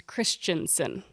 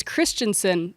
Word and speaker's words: Christensen: So I tend to overpronounce Christensen. However, the family that the company is named after is Christensen. Oh, well, that ends the debate right there. So it's Christensen.